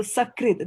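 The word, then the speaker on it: sakṛt: So, Sakrit, remember this R has got a dot underneath it, so it will be like a Ri, R-I.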